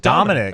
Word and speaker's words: Damonic: So it's spelled with a D-A-M-O-N-I-C, but it's just Dominic Williams.